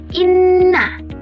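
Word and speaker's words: إِنَّ: Cara bacanya harus didengungkan di hidung seperti inna imma.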